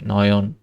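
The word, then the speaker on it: neun: এই যে এই যে ই ইউ আছে সেজন্য অয় উচ্চারণ হচ্ছে নয়ন।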